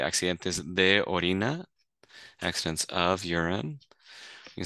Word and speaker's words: accidentes: you're having are you having accidents so uh accidentes is accidents so you can say accidentes the accidents of UR you say accidentes they